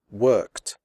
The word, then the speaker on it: worked: the final IDI is pronounced like T as in the word hot the e remains silent here are some examples worked picked fixed missed stopped